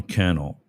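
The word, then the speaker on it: Cannell: A guy named Sean Kel rhymes with channel.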